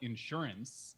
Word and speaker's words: insurance: You put the accent on the in Oh my lord. instead of the surance. I didn't know if that was a thing. I could call it insurance.